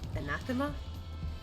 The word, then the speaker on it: anathema: Once conditions deteriorate past a certain point, an environment becomes uh an ana anathema.